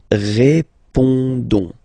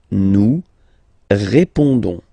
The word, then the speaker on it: répondons: Don't pronounce the final S. You only pronounce this on sound. So you get répondons. Nous répondons.